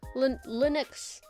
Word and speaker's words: Linux: Linux is an Linux, that's how you say it.